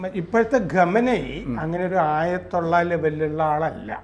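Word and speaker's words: خامنه‌ای: നമ്മൾ ഈ ഖൊമൈനി എന്നൊക്കെ പറയുന്നതൊക്കെ തമ്മിൽ ചില വ്യത്യാസങ്ങളുണ്ട്. നമുക്കിത് പരിചയമുള്ള പേരുകളല്ലോ. യഥാർത്ഥത്തിൽ ഈ ഖമേനി ഇപ്പോഴത്തെ ആള് ഖമനേയി ആണ് അല്ലേ? അയത്തുള്ള അലി ഖമനേയി ആണ്. ഖമനേയി എന്ന് വേണം ഉച്ചാരണം.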